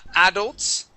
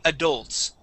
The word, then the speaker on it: adults: Now, we do have two ways to pronounce this word, class. We can say adults, okay, like Igor had said, or you can say adults. Either way is fine.